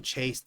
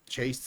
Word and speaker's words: chased: Chase ends with a s sound. It's a s. So ed here is pronounced as a t.